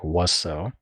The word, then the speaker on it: WSO: Mustard Man, Demo is WSO, or as per their words, you can pronounce it like Wusso.